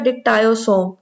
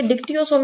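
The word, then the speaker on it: dictyosome: कर रहा होता है, उसका नाम कहता है डिक्टायोसोम। ठीक है, डिक्टियोसोम या डिक्टायोसोम व्हाटसोएवर यू कॉल इट। अक्सर हमें यहाँ पे प्रोनाउंसिएशन में मसले बड़े होते हैं कि डिफरेंट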